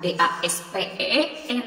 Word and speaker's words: daspen: huruf kapital contoh nih daspen bukan d a s p e n ya tapi daspen dibacanya tuh jadi dilfalnya itu secara dibaca daspen atau dasar-dasar pendidikan atau contoh